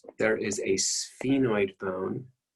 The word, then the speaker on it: sphenoid: 6 there is a sphenoid bone it's pronounced pronounced sphenoid as as if it would be spelled sf that is very difficult